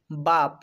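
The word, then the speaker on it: barb: বর্ণটি খুঁজে পাচ্ছি, এই জন্য বি এ এর উচ্চারণ করতে হবে বা, বার, মানে খিল। ঠিক তেমনি করে বলা যাবে বাপ, বাপ।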